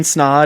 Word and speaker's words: Snaadt: I always say my name is Snaadt. It rhymes with odd because everyone always struggles with my name, but I own a video marketing company here in Des Moines.